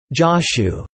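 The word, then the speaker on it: Jōshū: Zhaoju is rendered as Chao Cho in Wade Giles, and pronounced Joshu in Japanese.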